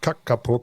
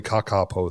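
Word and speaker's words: kākāpō: So there's this parrot, this Kakapo, probably Kakapo, I think it's long A's.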